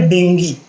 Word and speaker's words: dengue: देंगी के बारे में हम लोग ज्यादातर उसको हिंदी मराठी में डेंग्यू बोलते हैं क्योंकि उसका स्प्रे इंडियन जीव है मदद करें प्रनंसीएशन उसका उच्चारण है डेंगी अगले एंड आश्रम का